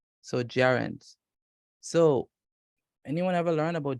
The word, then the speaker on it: gerund: Gerunds. Gerunds. Remember You're right. when gerunds. Remember, if G comes before E, it makes the sound of a J. All right. So gerunds.